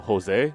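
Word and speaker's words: José: So Jose, J-O-S-E, that's not H-O-S-E.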